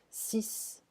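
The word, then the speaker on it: six: So here, 10 and 6, we don't pronounce the X, it's like a S here, just for that. 6, 10.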